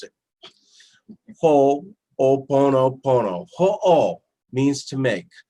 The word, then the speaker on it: Ho'oponopono: you leave here and you be able to pronounce it ho-oh Buono Buono who all means to make so if you